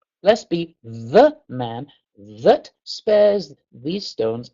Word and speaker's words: ye: we always say, oh, ye old inn, ye old fish and chips, etc., etc. It wasn't pronounced Y, it's a printer's thorn, and it's a shortcut for saying TH. Blessed be the man that spares these